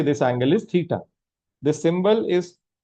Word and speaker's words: theta: Let's say this angle is theta. The symbol is pronounced as theta.